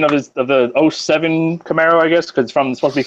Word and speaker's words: Camaro: ] like that and actually you're saying it wrong you're set on a roll but everybody's saying wrong it's Camaro oh yeah when you live